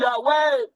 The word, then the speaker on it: Yahweh: And that Yahweh is the correct pronunciation of the Creator's name whereby power is. This all is great. Hallelujah, Yahweh.